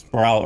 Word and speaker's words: Sproul: Uh allowed open discussion for members of all political groups at uh I believe it's pronounced Sprout or Sproul could be Sproul. It's probably Sproul Hall during certain hours of the day and permitted tables for leafleting.